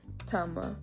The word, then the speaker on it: tama: However, I feel like the native speakers will pronounce it a little softer. It's not as harsh. So for example, let's use the word for boy, tama. Tama is still correct and